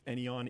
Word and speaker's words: Éowyn: Apparently it's Éowyn E.